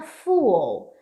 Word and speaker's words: fool: think that I'm a fool. A pronúncia disso aqui é tipo assim, ó, fool, fool. Percebe? Você faz um fool e depois faz meio que um O, marcando o L lá em cima, ó.